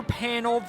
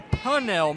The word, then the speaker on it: Pannell: last inning, just missed the Taylor Pannell versus Taylor Punnell matchup. It's spelled the same way, but pronounced differently.